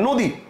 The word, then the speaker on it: নদী: আপনি উচ্চারণ অনা করে ও করতেছেন যেমন দেখেন নদী আপনি কিন্তু এটার উচ্চারণটা মানে এটার বানানটা আপনি কিন্তু এটার বানানটা